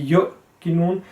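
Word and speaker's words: يوقنون: So if you say yu, then is incorrect. It should be yuqinun, sorry.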